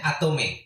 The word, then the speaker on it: Atomy: Apa memang disebut bacanya Atomy? Ya betul. Atomy ya.